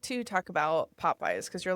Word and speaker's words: Pop-By: So, pop What a Pop-Bye is, it's spelled p o p b y. Two different words. People think I'm saying Popeye's like the chicken.